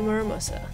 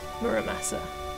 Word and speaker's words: Muramasa: This is the chest containing the Muramusa. I know I'm probably pronouncing it wrong, but you know when you've just read something for so long and you read it as that? Muramasa.